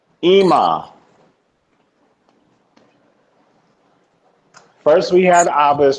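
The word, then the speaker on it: אמא: How do you pronounce that? Ima. Ima. Ima.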